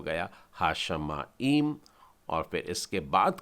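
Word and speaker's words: השמים: और हा का भी अर्थ मैं आपको बताना चाहता हूं, हा मतलब स्पेसिफिक, द, और इसका उच्चारण पहले लिख लेते हैं हम लोग, हा शा मा ईम, हा शा मा ईम।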